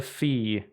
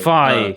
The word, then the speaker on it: phi: Usually written as the Greek letter phi, which I believe is how you pronounce it. It's thigh. Phi.